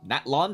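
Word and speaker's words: Natlan: where do I go naton that's how you pronounce it I'm calling it Natan I don't care I'm afraid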